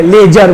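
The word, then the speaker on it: ledger: Classifying में किस में करते हैं, लेजर में, इसमें लेजर में डी साइलेंट है, लेजर बोलना है हम लोग को, ठीक है, लेजर।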